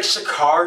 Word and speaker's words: Shakur: It's like Shakur. Shakur. It's S-H-A-K-U-R. That's how you say it.